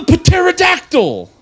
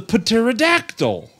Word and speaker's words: pterodactyl: it is for kids for sure no the pterodactyl the p is silent you the paterodactyl oh don't kill me oh I said Dawn